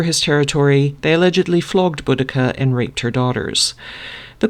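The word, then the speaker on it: Boudica: an ancient British tribe buddika you may have heard her name pronounced budhia which was apparently a favored pronunciation by the victorians when her husband died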